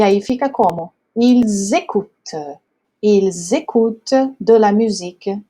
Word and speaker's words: ils écoutent: Porque esse S ele vai fazer a liaison com o E. Então, vai ficar ils écoutent, tá? O S, quando ele faz liaison com a vogal que segue, ele vai ter sempre um som de Z.